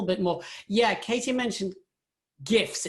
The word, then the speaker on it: GIF: Yeah, Katie mentioned GIFs. It's a hard G.